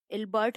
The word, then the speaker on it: Ilbert: Next था ILBERT, इल्बर्ट, हम इसको प्रोनाउंस कर सकते हैं फ्रेंड्स, इल्बर्ट बिल इन्होंने पास करवाया जो कि 1883 में हुआ था।